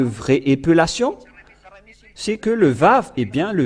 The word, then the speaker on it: Vav: Et nous avons vu la lettre araméen que le lettre Vav se prononce bien Vav ou V. Et c'est bien clair d'après cette idée que la Sainte Écriture prouve bien que l'araméen a prononcé le Vav en VAV.